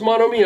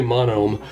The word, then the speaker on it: Monome: This is, is it pronounced Monomi? I just say Monome.